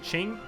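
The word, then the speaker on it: Qing: totally be saying wrong I say King because it just looks like it says King but maybe it's Ching you guys let let me I think it's Ching actually I'm sorry for saying it wrong guys JZ um but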